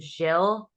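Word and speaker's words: Gill: g i l l in the UK they pronounce it Jill um but uh it's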